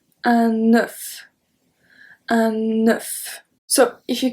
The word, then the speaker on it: neuf: Un nœud, open sound, un neuf. Un neuf. So here we have something at the end. We have the F and we pronounce it.